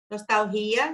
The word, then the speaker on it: nostalgia: Nostalgia está incorreto, porque no espanhol a gente fala nostalgia, a sílaba tônica vai estar aqui.